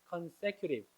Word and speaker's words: consecutive: consecutive인데 미국 사람이 발음하면 consecutive 이렇게 발음합니다.